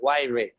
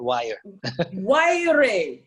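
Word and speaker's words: Wyre: people pronounce my name it's y ray not wire wiring yeah thank you for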